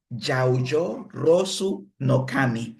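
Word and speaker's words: 八百万の神: Y la palabra que identifica al sintoísmo se pronuncia Yaoyo Rosu no Kami. Yaoyo Rosu no Kami.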